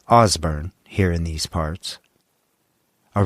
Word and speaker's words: Osborne: here in Kansas well first of all it's pronounced osbor here in these parts a region of the